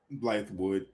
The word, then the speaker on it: Bythewood: Bythewood.